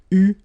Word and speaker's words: eu: Okay, but you will have to pronounce it U.